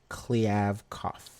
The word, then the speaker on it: Kliavkoff: But Alex, what's the dude's name that I mispronounced? Who are we talking about? Which one? Pac-12 commissioner. Oh, George Kliavkoff. Kliavkoff. No, you just say it so I can say George it. George Kliavkoff.